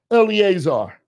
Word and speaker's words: Eleazar: the last gravestone marks the grave of Eleazar did I say it right yeah I said it right early Azar he was the son of Aaron the first